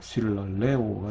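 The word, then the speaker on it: συλλαλέω: 예, 마찬가지로 쉴랄레오 역시 원래 쉰랄레오인데 예, 자음 동화가 일어나서 쉴랄레오가 된 거예요.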